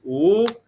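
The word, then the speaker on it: 五: In Chinese, the number five is pronounced "wu," and I would go "wu," meaning I didn't want to wake up.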